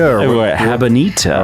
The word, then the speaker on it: Habanita: Habanita.